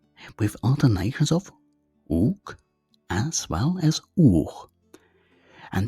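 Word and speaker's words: οὐκ: First, u in front of a consonant, uk in front of a vowel, and u in front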